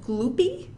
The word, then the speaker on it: Gloopy: there's a creature named gloopy I did not pronounce that incorrectly it just it is exactly how it sounds a gloopy who is